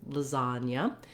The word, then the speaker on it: lasagna: But we have two A's in the beginning and the end, and these letter A's say the vowel schwa. They sound like So that's because those two syllables are unstressed, short, and they have a reduced vowel sound.